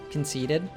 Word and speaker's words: conceited: This is because of the American T here. It's between two vowels, so we'd say it like a D. Conceited, conceited.